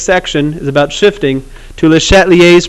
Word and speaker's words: Le Chatelier: Okay, we are going to shift quite literally, because that's the next section, is about shifting, to Le Chatelier's principle, which in Southern Virginia is pronounced Le Chatelier's.